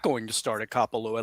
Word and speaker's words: Kapalua: But bad news for I don't even know how to pronounce that. Kapalua in Hawaii. Kapalua.